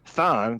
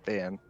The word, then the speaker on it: Thaan: So Thaan, the double A, that is the correct pronunciation. But it can, it can. I've had people call it Than, like Thando Mm-hmm.